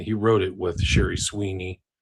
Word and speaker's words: Swiney: And he wrote it with Sherry Sweeney. Her last name is spelled Swiney.